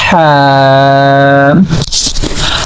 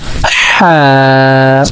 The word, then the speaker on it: ح: Say strongly Ha. Say again Ha. So for pronouncing Ha, we are using our throat.